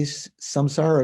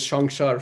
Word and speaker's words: samsara: same did they say samsara is it pronounced a little bit differently in modern hindi no it's still samsara in in bengal is shangshar for example so samsara is is